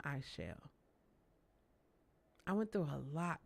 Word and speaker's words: Aichelle: It's like, no, it's I shall.